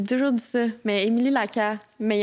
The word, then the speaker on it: Lacasse: T'as dit Lacasse. Non? Guys, il n'y a pas de prononciation du S. Laca.